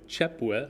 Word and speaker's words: Cieply: E in, and the last name would be pronounced in its native Ukrainian, probably Chepwe, I suppose, and it's a simple, basic word that means warm.